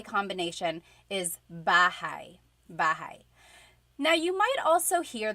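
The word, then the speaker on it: bahay: Okay, so house in Tagalog is bahigh. Bahai. Try saying that with me. Bahai. Bahai. You might notice that the spelling is a y at the end. So it looks like bahi, but it's pronounced bahi.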